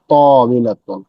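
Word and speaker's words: طَاوِلَةٌ: ত এর পরে একটা টান হবে, ত হবে, ত একটু লম্বা টান হবে। তিলকা তবিলাতুন, তিলকা তবিলাতুন, ওইটি একটি টেবিল।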